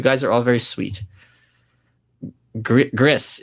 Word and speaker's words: Gris: Gris is pronounced like gristle.